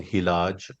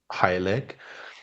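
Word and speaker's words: hyleg: foundational uh concept called hilage or hillec. uh I usually give you the both names both pronunciation of the Persians and Arabs as well as the uh common pron pronunciation in the west.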